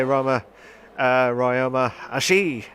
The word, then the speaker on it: Ryoma Ashi: We've got another time penalty, which is from Cloudy Balloons, aka Ryoma Ashi, is how you pronounce it.